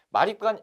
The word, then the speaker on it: 마립간: 따라 는 거죠 내 몸을 만 입단이 즉 마립간 아아 음 내 몸을 왕 이라고 써있으면 내음을 왕 이라고 쓰고 말이 거 아니라고 읽는 거예요 그렇죠 근데 왜 선생 왜 마왕